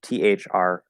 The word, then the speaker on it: threw: This is pronounced exactly the same. It's just THRU. Okay, the U sound, or the Ough vowel sound.